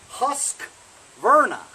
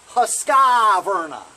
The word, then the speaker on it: Husqvarna: for pronouncing something we are wrong while you're pronouncing Virna wrong you know it's husk Virna not Husqvarna there's no I in between the Q and